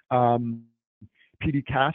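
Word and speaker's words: PDCAAS: PDCAS is typically how it's said.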